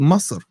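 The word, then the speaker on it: مصر: It's not, it's called Masr. Like seriously, man. Do your Do your pronunciation research.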